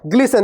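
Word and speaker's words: glisten: है चमकना है ना ग्लिसन देखो यहां भी टी साइलेंट है ग्लिसन का मतलब हो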